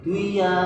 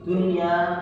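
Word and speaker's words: دنيا: Dan juga keterangan adunya liu bacanya tidak boleh dibaca duya tapi dunya karena wajib ataupun yang di pelajaran ee jirnya kita itu harus dikilmah perlu membahas tajwidnya yang lain ngih.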